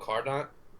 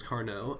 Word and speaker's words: Carnot: We don't pronounce the T at the end of words in French for some reason.